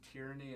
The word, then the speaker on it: Tierney: You said your name was Tierney, and I was like, what? And you're like, Tierney, and I was like, Tierney, and I kept saying it wrong. You're like, no, like tear and knee.